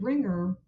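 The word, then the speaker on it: wringer: use the word ringer spelled with a silent w at the beginning so it's spelled w r i n G and for some native speakers for people learning the language they may write that expression using ringer just with an R because they sound the same they are homophones I feel like people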